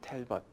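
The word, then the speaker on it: Talbot: 전투에서 전사했던 딸보 장군의네 존 텔벗 아 텔벗 영국식 발음이네 영국식 발음이고네네 그 텔벗 이제 프랑스식 발음이 보가 되겠습니다 보네 그래서 어 터 보에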